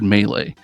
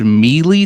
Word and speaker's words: melee: because they don't know how to say the word melee and if you say the word Meely to me I will make fun of you I will at you